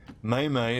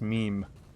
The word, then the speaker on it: meme: May-May is the way some boomers pronounce meme.